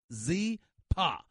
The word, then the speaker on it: Zyppah: Zyppah is pronounced Z-Pa. It's spelled Z-Y-P-P-A-H. It's easy to remember because Zyppah is Happy Z spelled backwards.